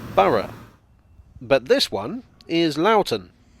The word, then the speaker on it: Borough: o-u-g-h they can be pronounced this station is pronounced boro but this one is lauten don't even get